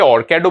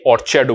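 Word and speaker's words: orchard: এটাকে অনেকে অরক্যাডও বলে। আবার অনেকে অরচারডও বলে থাকে। ঠিক আছে? Both of দ প্রোনাউন্সিয়েশনস R correct.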